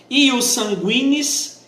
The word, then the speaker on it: ius sanguinis: Ius sanguinis, escreve ius, ou para outros que preferem JUS, e sanguinis do jeito que eu pronunciei, SANGUINIS, beleza?